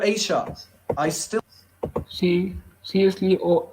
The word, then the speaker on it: Aisha: Arab this speaker, but I can pronounce Aisha. He said Asia.